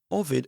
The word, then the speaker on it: Ovid: I've mentioned him in the previous episodes, and I should apologize actually because there I think I've pronounced him ovid rather than Ovid.